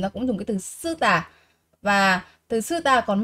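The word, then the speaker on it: 쓰다: Mình có động từ sư tả, sư tả. Sư tả, sư tả là âm căng nên các bạn sẽ phát âm là gì ạ?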